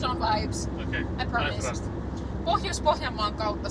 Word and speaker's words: Pohjois-Pohjanmaa: We will be in out of central Finland into Pohjois-Pohjanmaa. In English, you apparently say Pohjois-Pohjanmaa. North Ostrobothnia. But if you pronounce Pohjois-Pohjanmaa in English kind, it's like Pohjois-Pohjanmaa apparently. Oh yeah, Pohjois-Pohjanmaa. It sounds like pajamas.